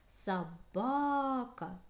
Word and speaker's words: собака: Собака. Ударение падает на второй слог.